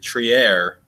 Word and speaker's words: Trier: Tom learned from Jonathan Macri tree air which is what Jake's been saying and I've been questioning this entire time but apparently that's how his mom pronounces it so maybe we'll go